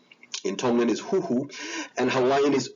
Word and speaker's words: huhu: From the Malay Indonesian area, speaking area, the further east you go, the weaker the S sound becomes. So in Polynesian languages, Fijian has a S, suthu, but once you reach Tonga, it becomes the letter a H sound, aspiration, huhu, and by the time you go to Hawaiian, it's gone completely. And so this is one